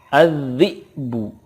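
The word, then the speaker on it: الذئب: Contoh berikutnya, az-zi'bu. Az-zi'bu, ketika waqaf cara bacanya az-zi'b. Az-zi'b, ada qalqalahnya karena ba sukun qalqalah.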